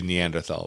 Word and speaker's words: Neanderthal: also fairly new and I will pronounce it neanderthal Neanderthal until the day I die because I don't pronounce it p i pronounce it Paris cuz I'm a goddamn American that was pretty hot